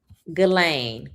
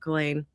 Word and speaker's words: Ghislaine: Ghislaine Maxwell. Did I say her name right? Yes, Ghislaine Maxwell.